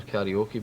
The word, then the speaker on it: karaoke: Karaoke, or karaoke as it's pronounced in Japanese, means literally empty orchestras.